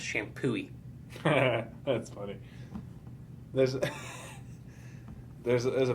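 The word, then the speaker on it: Champoeg: o e g but it's pronounced shampoo that's funny there's there's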